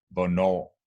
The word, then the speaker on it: hvornår: In this particular combination, the H is always silent. And it goes for a lot of these question words that we use in Danish. Hvornår, hvad, hvem, hvor, or hvordan.